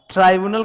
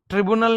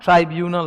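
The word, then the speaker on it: tribunal: ट्राइब्यूनल का pronunciation ये होता है। ट्रिब्यूनल नहीं होता, ट्राइब्यूनल होता है, ठीक है।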